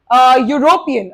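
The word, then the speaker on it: European: Next one इज यूरोपियन, again क्या practice किया हमने, ई से स्टार्ट हो रहा है बट the sound is ऑफ य का साउंड है तो it will be अ यूरोपियन, यूरोप में रहने वाला पर्सन, यूरोपियन।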